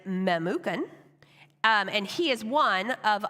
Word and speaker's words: Memucan: I'm not going to say this guy's name wrong, right, but it's Memucan.